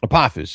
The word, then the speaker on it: Apophis: Apophis, yeah. So in Egyptian mythology, Apophis is a god, but the reason why I have that name in the book is that the character that is now Apophis actually had a different name to begin with